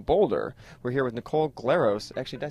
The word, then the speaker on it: Glaros: We're here with Nicole Glaros. Actually, did I say it right? Well, if you're Greek, you say Glaros. But which I can't roll. I can't roll R's, so I'm glad you did that for me.